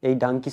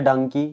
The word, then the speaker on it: Dunki: যেটা দেখবেন অনেকজন এই ডাঙ্কি শব্দটা অনেকজন, কেউ ডঙ্কি, কেউ দুনকি, অনেকজন আর কি বলছিল। তো সেটা আর কি রাজকুমার রানী ক্লিয়ার করে দিয়েছে, পুরো প্রোনাউন্সটাকে তারা শিখিয়ে দিয়েছে যে এটা কি আসলে ডাঙ্কি।